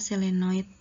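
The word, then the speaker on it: solenoid: dililit seperti ini contohnya selenoid ya bacanya adalah selenoid contohnya ya kawat yang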